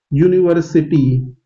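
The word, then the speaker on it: university: है ये बात समझिए, यूनिवर्सिटी आप जब मुंह से प्रोनाउंसिएशन कर रहे हैं तो यू, यू मतलब वाई यू, यहाँ पे जो प्रोनाउंसिएशन है वो वाई यू का निकल रहा है, और वाई क्या है, एक कॉन्सोनेंट साउंड है।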